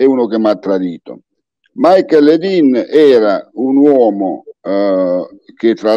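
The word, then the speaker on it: Michael Ledeen: Ci racconti di questa vicenda di Michael Lidl affinché ne parlasse poi con Henry Kissinger, l'uomo... Allora, ancora... Michael, sì, la pronuncia esatta, Michael Ledin.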